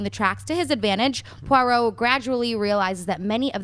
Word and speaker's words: Poirot: Having concluded a case, Detective Hercule Poirot, is that how you say it? Poirot.